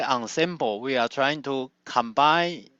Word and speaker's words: ensemble: As you can see, we don't pronounce as ensemble, so this is a French word. It means a group of objects. And in this context, in our talk, when we say ensemble, we are trying to